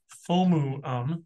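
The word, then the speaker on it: FOMO: If you have FOMU, that's the actual pronunciation of it, Allison, FOMU, but you're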